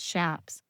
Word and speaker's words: chaps: The leather that covers cowboy's legs are called shaps. Mispronounced by some, but correctly is Shaps.